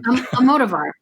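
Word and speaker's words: Almodóvar: Almodovar.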